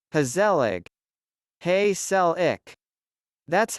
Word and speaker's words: gezellig: If the words are said in a light and upbeat manner, that's gezellig. If one or more syllables are emphasized but drawn out, pretty much like saying, hey sell ik, slowly, sounding slightly annoyed, ongezellig.